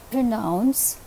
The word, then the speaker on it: pronounce: In the word pronounce, the second syllable is receiving the accent, pronounce.